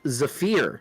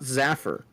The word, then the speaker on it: Zafir: them consonants not vowels it's Zafir not zaffer and then I merely